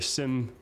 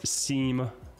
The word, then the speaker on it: SIEM: play so right here Sim pronounced Sim also known as seam it all depends on where you're from I guess on how you pronounce it so Sim technology collects